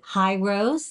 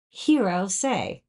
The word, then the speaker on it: Hirose: this company is it highrose the answer is no it's hero say just think of David Bowie Heroes hero say um and